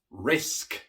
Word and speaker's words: risk: Risk, risk. La K también es una consonante sorda y por eso la S también se pronuncia de forma sorda. Risk.